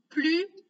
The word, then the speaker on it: plus: Léa est la plus âgée de sa classe. Maintenant, regardons l'exemple où on ne prononce pas la lettre S à la fin du mot plus.